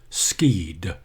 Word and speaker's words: skied: skied down the hill that word looks like skied but it's the past participle of to ski and pronounced skeed the champion skied down